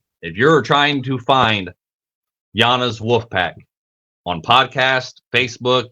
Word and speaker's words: Yanas: So, again, I'm going to say, friggin' Yana, if you're trying to find Yanas Wolf Pack on podcast, Facebook, YouTube, and TikTok, look for and search for Yana is spelled Y-A-N-A-S. Yanas.